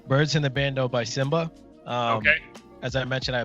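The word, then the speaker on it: Symba: Simba with the Y. Simba with a Y, okay. Yeah. I thought you said Samba like that.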